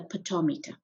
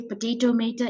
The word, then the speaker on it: potometer: transpiration is called a potometer please don't say potato meter it's a poto meter if you need to